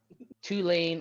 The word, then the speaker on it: Tulane: because I I mean Tulane also rhymes with two lame I barely know anything